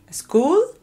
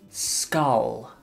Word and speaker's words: skull: either Oh Oh granny oh how do you pronounce it school school skull repeat skull skull skull hmm and Diablo and